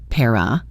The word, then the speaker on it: pair of: Notice how he reduces the word of to just an sound and then he links it all together. Pair of para. a pair of skis. It sounds like one smooth phrase.